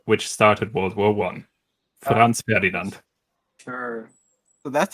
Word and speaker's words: Franz Ferdinand: Franz Ferdinand. Sure. So that's how you pronounce it.